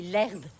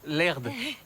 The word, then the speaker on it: Herde: Je m'appelle Allison et lui, c'est mon mari, l'herbe. L'herbe? Comme le joint? Le joint? Non, l'herde. L'herbe. L'herde. Je le prononce bien? Avec un D, pas un B.